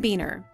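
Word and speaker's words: Buehner: Beener is Carolyn Beener's husband, and their last name is pronounced Beener.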